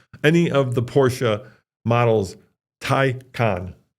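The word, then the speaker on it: Taycan: of the Porsche models tyon not tyan tyon yeah well hold on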